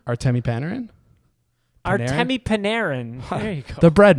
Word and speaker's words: Artemi Panarin: How did you just pronounce his name? Artemi Panarin? Artemi Panarin.